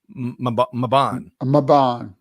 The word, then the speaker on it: Mebane: So D says that it's pronounced with a short A, Mabon. And it's about 30 minutes. Mebane.